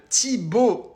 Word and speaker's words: Thibault: Pourtant, mon prénom, il est pas compliqué. 2 syllabes. Thibault.